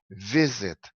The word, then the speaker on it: visit: O verbo visit é um verbo com duas sílabas, e o sílaba tônica é o penúltimo, é o primeiro sílaba. Então é visit, alright? O verbo é pronunciado assim, visit. Então é o sílaba tônica é no vi, visit, alright?